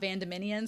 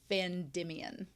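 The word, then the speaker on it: Vandimion: also wolf thank you he points out that far's last name is Van Demian not vand dominian so I've been adding extra syllables why not so it's vandian voila vandian I'll have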